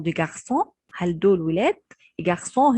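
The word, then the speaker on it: garçon: جارسون هنا السي تحتها شرطة صغنونة كده شبه الخمسة، دي اسمها أكسون شديل، دي بتخليني احول السي بدل ما انطقها كي او كاف بتتنطق زي الاس.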